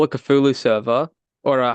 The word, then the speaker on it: Cthulhu: You guys will see in the shorts. It's two syllables.